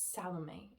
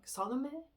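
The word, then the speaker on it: Salomé: It's Salame if I'm not wrong. Salom. It's French pronunciation so I'm sorry.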